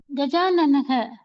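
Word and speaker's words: गजाननः: No, don't miss the Visarga pronunciation. Gajananaha.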